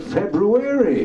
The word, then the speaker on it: February: was a cool February not many people remember to pronounce it February but anyway it was